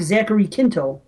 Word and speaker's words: Zachary Quinto: So anyway, the guy that plays Spock, Zachary Quinto, is that how you pronounce his name?